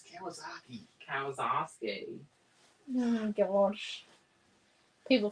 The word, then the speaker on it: Kawasaki: it says glow no this one is highlighted kawazaki kowalski it's kawasaki kawasaki oh my gosh people think i'm bad at pronunciation oh okay it's like stop green naomi